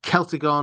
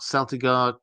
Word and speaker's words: Celtigar: Um well, Class saying Celtigar, not Seltigar, Kyan, not Suridan. Uh am I right? Well, yeah, certainly Tolkien liked his uh C's with a hard C sound to them.